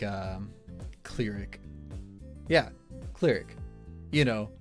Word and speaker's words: cleric: like um cleric yeah cleric you know have you ever done clerical work it it it's a